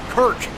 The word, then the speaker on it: Kirk: I think I'm saying his name wrong. No, Knight Kirk. Yeah, Kurt. Kirk. Not Kurt.